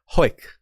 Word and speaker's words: Hawick: song of w fire now it's hoik you say it like really fast that's how you say